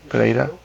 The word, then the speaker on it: Pereira: How you spell it? Paella? Pereira. Paella? P-E-R. Some paella? I-E-R-A. Pereira. Pereira.